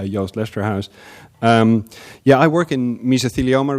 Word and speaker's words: Joost Lesterhuis: my name is I I put it actually the pronunciation on the screen for because I have a Dutch heritage so my name is a bit funny a Yost Leicester house yeah I work in